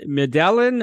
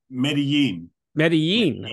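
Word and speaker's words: Medellín: in Colombia now you're from how do you pronounce it is it medelin or how do you pronounce it um meden meden okay I didn't do my homework there what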